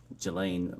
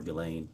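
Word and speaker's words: Ghislaine: that in 2024 uh Gelain Maxwell or Gileain I think is how it's pronounced arranged and wired $1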